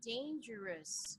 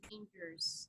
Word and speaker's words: dangerous: Yeah, so you have to say dangerous, not just dangers.